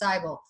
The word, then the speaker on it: Seibel: ever see e aí together in germany that's pronounced not me but I so its Seibel so here's this here's this great picture very